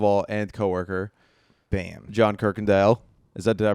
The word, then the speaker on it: Kirkendall: friend first of all and cooworker Bam John Kirk Andale is that did I pronounce that right maybe how do you pronounce